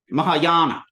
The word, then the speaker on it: Mahayana: in there right now ma maa ma now that's a long a Aon Mahayana the greater vehicle uh